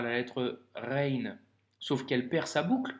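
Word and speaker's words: غين: Pour la prononciation, c'est plutôt facile pour le coup, c'est le même son que la lettre R en français que tu retrouves par exemple dans le mot Paris.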